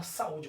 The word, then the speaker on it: saúde: Olha só a palavra saúde. Quando eu faço a separação silábrica, observe que o U se separa da outra vogal, que no caso é o a, e passa a ser acentuada e passa a ser pronunciada de maneira mais forte e mais intensa. Passa também ser a sílaba tônica, né? Observe que o u, ó, o a e o u estão em sílabas diferentes.